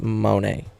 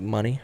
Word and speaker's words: Moné: Anywho, yes, we need Mercedes Monet. I said Monet, but I think it's pronounced like money, right?